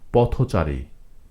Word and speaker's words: পথচারী: চারি যুক্ত হয়ে সমাসবদ্ধ হয়েছে তখন এই শব্দটির উচ্চারণ হয়ে গেছে পথচারী পথচারী না পথচারী যদিও পথ একক বা স্বাধীনভাবে